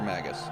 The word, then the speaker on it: Magus: Yeah, I think I grew up saying Magus because it sounds like mage.